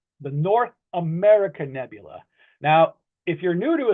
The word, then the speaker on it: North America Nebula: you you may have heard some people say North American Nebula, but that is incorrect. The correct the the correct way to pronounce that to to the the correct name is North America Nebula.